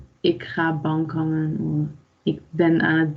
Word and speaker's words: bankhangen: Het woord van de week is bankhangen. You can practice with the pronunciation. Bankhangen. So pay attention of the NK and the NG combination.